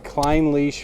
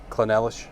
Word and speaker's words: Clynelish: so climb leash 14 should add you pronounce this one - because you wouldn't have got Kline leash I like you said like clone Ellis Clinton Ellis yeah I was yeah